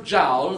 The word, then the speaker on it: Joule: Il signor Joule, la sua famiglia, era in Inghilterra da centinaia di anni. Lui, i suoi avi erano francesi, ma da generazioni erano in Inghilterra e la pronuncia inglese è Joule.